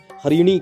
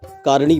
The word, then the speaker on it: हरिणी: पाठ के प्रथम मंत्र हरिणी शब्द को हरिणी के बजाय कारिणी पड़ा इसमें ह की जगह क का उच्चारण करने से मंत्र का अर्थ बदल गया इससे मां चंडी कार्य